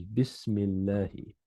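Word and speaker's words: بسم الله: So the way you pronounce it is Bismillahi. It's Bi ismi Allahi.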